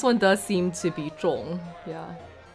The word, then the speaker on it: 众: It's pronounced 重 and it means group of people.